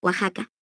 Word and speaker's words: Oaxaca: La pronunciación de esta X, en esas y otras palabras, es ficativa velar sorda, es decir, suena como J. Constituye, por tanto, un error ortológico articularla como K es 23.23.